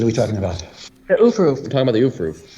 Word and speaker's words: aufruf: It's pronounced ufruf for the. Some people whatever. say aufruf. Some people say ufruf.